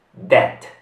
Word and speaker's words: debt: La B qui non si pronuncia. Debt.